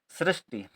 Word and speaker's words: सृष्टि: ऋ की मात्रा श्री क्योंकि ऋ की मात्रा लिखते हैं तो बोलते हैं तो साथ में इ का छोड़ा उच्चारण होता है श्री फिर है आधा